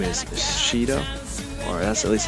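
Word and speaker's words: Sido: His name is Shido, or that's at least how I pronounce it, S-I-D-O.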